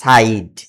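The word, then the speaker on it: side: যেমন এস আই ডি ই, আয়ের পরে আছে ডি কনসোনান্ট, তারপরে আছে ই, এখন উচ্চারণ হবে, আয়ের উচ্চারণ হবে আই। সাইড, সাইড, সিড না, সাইড।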